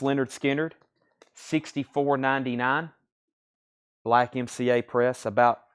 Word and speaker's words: Lynyrd Skynyrd: Nirvana is 49.99 Pink Floyd The later years this is 84.99 Lynyrd Skynyrd pronounced Leonard Skynyrd 64.99 black MCA press